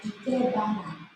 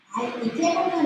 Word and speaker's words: Ikebana: And again, the pronunciation, it's Ikebana. A lot of times people excessively put the accent on ba. Ikebana. Japanese language, it's rather flat, no accent.